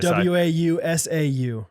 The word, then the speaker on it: Wausau: us to try to w-a-u-s-a-u w-a-u-s-a-u is wow how let me see it i can't i think it's wausau hey yo what's up